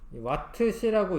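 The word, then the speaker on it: Wh: 주 쓰느냐 이런 거였는데 와트시라고 읽으시면 되는데 요게 이제이 시자는 한글이죠 요거는 뭐 영어고 와트시라고 읽으시면 되고 이렇듯 이라트인 전기 기구를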